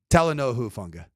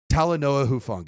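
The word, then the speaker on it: Talanoa Hufanga: I keep going I'm I go taoa and I'm like no it's h long taloa huanga there you go and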